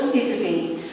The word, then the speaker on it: Iserby: Her name's Charlotte Iserby. It's spelt I-S-E-R-B-Y-T, Iserby. Charlotte Iserby.